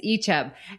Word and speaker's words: Icheb: Icheb. Icheb. Yes, Icheb.